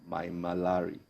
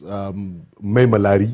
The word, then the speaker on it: Maimalari: Your book, The First Regular Combatant, Brigadier Zakariya Maimalari. Did I pronounce that correctly? Well, yes. Maimalari.